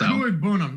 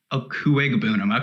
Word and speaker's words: Okuegbunam: It's Okuebunam, yes, but the G is actually pronounced, I believe. Okuegbunam.